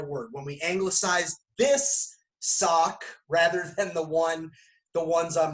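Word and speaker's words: sawk: We're going to elbow, and we're going to say the word sock. S-A-W-K. Sounds exactly like, pronounced exactly the same way as what I'm wearing on my feet.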